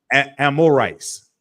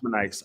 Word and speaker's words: Amorites: I can't hold on spell it again y Yar a m o r i t amorites Amorite yes not amonites okay what you got